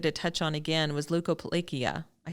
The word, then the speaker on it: leukoplakia: And something I know you had mentioned before, but I wanted to touch on again was leukoplakia. I said it right, didn't I? Yes, leukoplakia.